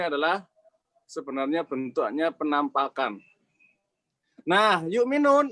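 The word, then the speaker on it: يؤمنون: Nah, yu'minun ini kalau dihilangkan jadinya apa? Yuminuna. Ini menghilangkan hamzah secara tulisan maupun bacaan.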